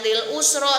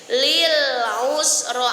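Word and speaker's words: لِلْعُسْرَىٰ: fasuyasiru lilusro ulangiir Awas dalam pengucapan Ain jangan a jangan lilusro tapi lilusro Ain itu di dalam halquun huruf halqu Lil Usro Ayo Lil belum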